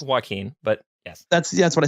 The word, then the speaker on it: Joaquin: I think it's pronounced Joaquin, but yes.